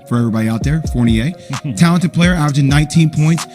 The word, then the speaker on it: Fournier: acl and everybody's saying well they got evan fournier that's how you pronounce his name for everybody out there fournier talented player averaging 19 points can shoot the